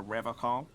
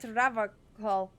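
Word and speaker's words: Revachol: one is you said ra call I like to pronounce it the hard way the old way the vespertine way he Winks at you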